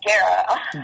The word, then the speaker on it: Guerra: Your last name, is it Guerra, or how do you pronounce your last name? It's pronounced Guerra. Guerra, okay. Nobody knows Spanish. It's Spanish for war. If you translate it in English, it's war.